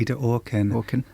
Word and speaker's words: Ida Orkin: Is that how you pronounce her name? Yeah, Ida Orkin.